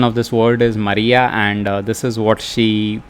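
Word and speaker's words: murraya: So the pronunciation of this word is Maria, and this is what she pronounced properly.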